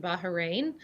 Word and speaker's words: Bahrain: now by the way just so our audience knows you pronounce it bahrain um it is i